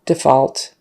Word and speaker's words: default: default they're about to default on their loan so the vowel is a little bit different and of course the stress is now on the first syllable which is interesting because in some of those past examples the verb had the stress on the second syllable right you just have to know it you just have to learn it typically it goes to the second syllable when it's a verb but not always as